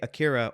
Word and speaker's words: Akira: whole series was inspired by akir AK akir Akira Akira there you go Aira I have to